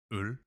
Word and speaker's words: øl: Then we have the letter Ø, a little bit like the I in bird, bird, Ø. Here the example, one of my favorites, øl, which means, of course, beer, øl.